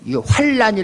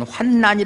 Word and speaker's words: 환난: 우리의 모든 환난 중에서 환란이 라고 읽으면 안 됩니다 뒤에 나니 밀려올 때는 환란이 라고 읽어야 되지만 이건 환난이 라고 읽어야 되요 우리의 모든 환난 중에서